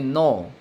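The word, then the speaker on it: know: फिर अगला एग्जाम्पल देखेंगे, नो और नो। इसको भी नो पढ़ेंगे और इसको भी नो। यहाँ के साइलेंट रहेगा, तो इसका नो का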